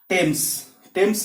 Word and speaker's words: Thames: कभी कभी टी एच का उच्चारण ट की तरह होता है। जैसे टेम्स नदी का नाम आपने